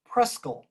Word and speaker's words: Presque Isle: some more fascinating stories the locals pronounce presque isle preschool so old preschool is